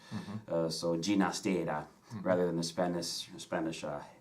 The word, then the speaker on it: Ginastera: years of his life he did prefer to have his name pronounced with the catalan pronunciation with a soft G sound is in George so Gina's data rather than the Spanish